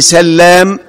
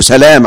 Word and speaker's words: سلام: ابن سلام، عبد الله ابن سلام. وشهد شاهد من بني إسرائيل على مثله. أيضا هذا الرجل كان يسمى الحسين فغيره النبي إلى عبد الله. يبقى أول اسم تنطق فيه اللام مخففة هو مين؟